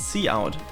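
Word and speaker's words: cout: d is the character output stream it is pronounced c out ah a c out ac there is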